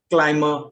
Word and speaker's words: climber: It can also be silent if it is after M in certain words where it is in the middle of the word. For example, climber, plumber.